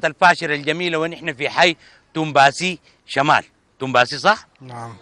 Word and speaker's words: تومباسي: على الحي سموه توم باسي، وبقت طوال تنطق كلمة واحدة بقت توم باسي.